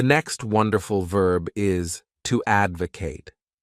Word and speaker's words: advocate: The next wonderful verb is to advocate. This word has 3 syllables, and the stress is on that first syllable.